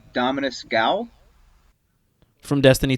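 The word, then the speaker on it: Ghaul: The G-O-U-L? No, G-H-A-U-L. it's G-H-A-U-L, so I feel like the H is probably silent. Okay, yeah. No. Gal was it's probably Dominus right. Gall. It's probably Dominus Gall.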